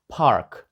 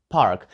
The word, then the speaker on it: park: - це парк і англійська його вимова дуже схожа до української тільки літера р міняється на R Park Park До речі в мене